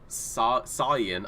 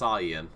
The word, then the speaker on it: Sayan: Sayan. Apparently, that is how it's pronounced, Sayan. That was what I was told by the man himself, so I'm going off of his word.